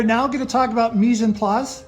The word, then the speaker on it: mise en place: Okay, Chef John, we are now going to talk about mise en place. Did I say it correctly? Yes, you did.